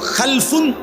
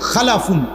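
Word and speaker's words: خَلَفٌ: হয় আরবিতে একটা হল খালফুন আরেকটা হল খালাফুন একই শব্দ শুধু উচ্চারণের মধ্যে একটু ভিন্নতা মাঝখানে একটা লাম আছে এই লামটার মধ্যে যদি সাকিন হয় তাইলে হল খালফুন আর যদি লামের মধ্যে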